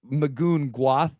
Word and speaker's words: Magoon Gwath: I've just Magoon Gwath, I think is probably how you say it at San Diego State. No, it is. Yeah. Yeah. That's right.